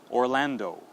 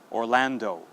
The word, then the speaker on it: Orlando: All right, now another common city name that is often mispronounced is in Florida. If you visit Disney World, you have to go through the city of Orlando. Okay, one more time, Orlando.